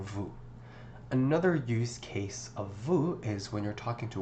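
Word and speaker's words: vous: Next one is vu. Notice again the s is not pronounced.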